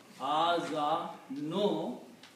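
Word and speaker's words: آذانهم: In Arabic you do not pronounce two dhammas, pronounce one only. So this will become Adhanuhum. Adhanuhum.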